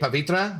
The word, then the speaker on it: Pavitra: And do I love this the way you say Pavitra? Why? Because that's how you pronounce his damn name.